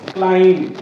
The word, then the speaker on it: climb: और उसमें टूम, टूम इज the right pronunciation. क्लाइम, क्लाइंबर नहीं, ही इज climbing the mountain, climbing the mountain is wrong. Climb, climb.